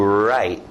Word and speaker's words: write: Esse é um verbo que você faz com a mão e a caneta, escrito W, mas som do R, to write, to write, to write.